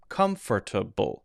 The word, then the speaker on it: comfortable: or sound well instead it's gonna be more like fur fur fur it's a little less stressed it's a little there's a little less emphasis there so comfor to bull comfortable comfortable now the next thing